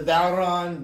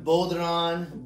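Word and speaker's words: bodhrán: you have this drum the bow Ron Boulder on boron I've heard it pronounced a lot of different ways it has a cross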